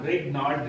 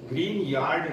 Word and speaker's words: Grignard: और उसकी एक स्पेशल वैरायटी है ये RMgX जिसे हम ग्रिग्नार्ड रीजेंट। देखिए मैं गलत प्रोनाउंसिएट कर रहा हूं, इसे ग्रिग्नार्ड लिखा जाता है लेकिन इसका exact name ग्रीन यार्ड reagent बोला जाता है, लेकिन अगर हम आपको